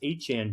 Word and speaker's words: Etienne: He got what's good is for Travis Achan Jr. That's how they pronounce his name now. Travis Achan. I didn't know that. That's a Creole pronunciation.